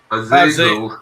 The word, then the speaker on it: Azazel: Azazel.